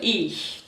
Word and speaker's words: ich: Ich, primeira pessoa, ich. Sorriam para dizer ich. Muitas pessoas às vezes ficam um pouquinho tensas, mas é só sorrir.